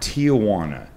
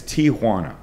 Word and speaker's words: Tijuana: There is no effing A there.